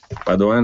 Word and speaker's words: Padoan: e si chiama Padoan con l'accento sulla prima a Padoan è un cognome venetissimo